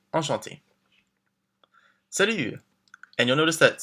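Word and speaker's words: enchantée: And don't forget, if you're a woman, we add the extra E, but it's the same pronunciation. Enchanté.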